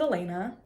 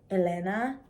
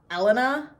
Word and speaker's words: Elena: or spell it, but I pronounce it Elena. If you're from Latin America and you pronounce it Elena, I'm not mad. That sounds gorgeous. Do your thing. If you're gonna mispronounce it and go like Elena, we're gonna have beef. Not actual beef, I'll just correct you.